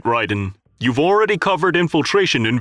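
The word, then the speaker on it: Raiden: The colonel pronounced the name as Ryden with a long I.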